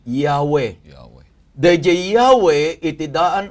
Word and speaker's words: Yahweh: Y, H, W, H. Awan iti vowel na ta nasantuan launay anagan dayjay. Tapno maipronounce da, inikanda dagiti nagbabaetan, dagito nga letra nga upat, tapno nagbalinin nga Yahweh.